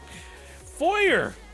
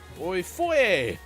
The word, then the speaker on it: foyer: you you can eat my a word bull foyer or foyer f-o-y-e-r it's a word and it's like the